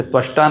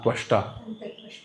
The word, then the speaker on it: त्वष्टा: एक देवता है तष्टा वो गलत उच्चारण करता है तष्टा वो वहां